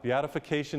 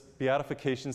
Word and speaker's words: Beatification: Beatification is the last step before canonization. Beatification is when we pronounce Mother Teresa blessed.